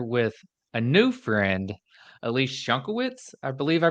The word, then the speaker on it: Schunkewitz: I'm sitting here with a new friend Elise shankiewicz I believe I pronounced that correctly but say hi to the